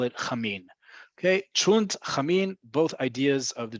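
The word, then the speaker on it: cholent: all year round, is what we call in Israel chunt. Okay, sometimes people will add another syllable in there and they'll say chulent, but most of the time people will say chunt.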